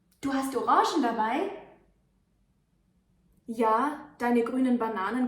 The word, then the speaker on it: Orange: The color is pronounced orange, orange, without an E in the end.